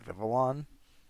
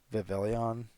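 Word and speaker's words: Vivillon: it's Scatterbug Pupa and vivalon which I always used to pronounce as vivon I'm sure or vion or something like that um and I'm sure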